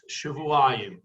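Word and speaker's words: שבעים: It can be read Shivin, but we read it Shavuayim.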